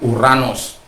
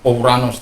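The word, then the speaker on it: οὐρανός: Jadi kalau kadang-kala untuk membenarkan itu, pronunciation-nya omikron ketemu epsilon menjadi u, ya, bacanya Uranos, bukan Ouranos.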